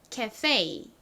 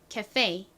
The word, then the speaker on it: cafe: 한국식 발음은 카페라고 하지만 영어식 발음으로는 어떻게 발음한다고 말씀드렸죠? cafe. 좀 웃기지만 요렇게 미국 사람들은 발음을 합니다. 여기에 강조가 빡 들어가요. 자, 따라해 볼게요. cafe.